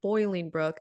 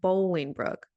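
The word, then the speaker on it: Bolingbrook: The city is not Boiling Brook. It is pronounced Bowling Brook.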